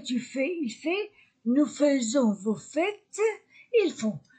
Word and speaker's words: faisons: il fait nous faisons j'écris a I et je prononce e nous faisons on s vous faites